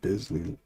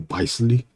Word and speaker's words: Bisley: Replicate that ice Simon Bisley that Bizzley Monk. You know there's artists out there that pronounce his name Bisley. Would you believe that?